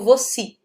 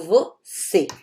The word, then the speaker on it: você: Eu não digo você, eu digo você. Então, aqui eu estou pronunciando um E e um E fechado, ok? É um som fechado, é um você, né? Ele não é um som aberto.